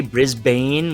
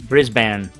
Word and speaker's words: Brisbane: YouTubes who's been educating me on how you pronounce certain places in in aussy land Brisbane I say Brisbane with an E yeah it's actually Brisbane bris I thought it was Brisbane or Brisbane